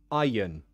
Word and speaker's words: iron: your question iron yeah we pronounce it like i yun iron there we go here